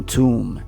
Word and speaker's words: tomb: Jesus was buried in a new tomb. እዚህ ጋር ቱምብ አንልም። B is silent.